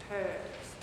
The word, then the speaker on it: herbs: Sauteed chicken with peppers, onions, garlic, and herbs. I can never say that word. Herbs, right? Herbs. You don't say the H, right?